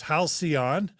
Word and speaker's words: halcyon: And thanks to Don Smith, who's telling us that it's halcyon. Thanks, Don, for helping us with the pronunciation.